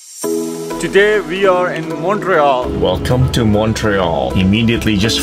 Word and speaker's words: Montreal: born in montreal no because you're doing sort of a french and trying to pronounce it correctly montreal we pronounce it montreal like it's with the you money and we always know